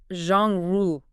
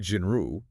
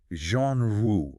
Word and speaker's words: genre: the pronunciation it's not jinru it's Jean Ru almost like Jean Ru but with a softer Z at the beginning like in measure Jean Ru exactly and think about